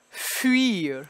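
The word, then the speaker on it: fuir: had this next one this fui our spelling the UI spelling is going to equal a glide off of the French you sound so what we're going to get here is few year so my lips I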